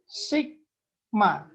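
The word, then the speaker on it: Σ: ya oke simbol ini bukan eh simbol ini bacanya adalah Sigma nah bacalah Sigma Bacanya adalah Sigma kemudian artinya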